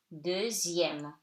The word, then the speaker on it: deuxième: In numbers, X before I-E-M, M accent grave, it's pronounced like Z. So, de, E-U like E, zième, okay? Deuxième, the second, okay?